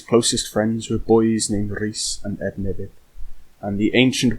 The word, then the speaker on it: Rhys: "Say Rhys like this, Rhys, and Ednebydd.